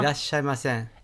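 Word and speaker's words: いらっしゃいませ: Dan, am I pronouncing that right? Irashai. Huh? Irashaimasen.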